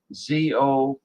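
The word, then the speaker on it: 粽子: It's spelled Zongzi, but it's pronounced zongzi.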